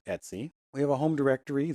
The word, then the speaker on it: etc: But it's pronounced Etsy. It's spelled etc but it's pronounced Etsy.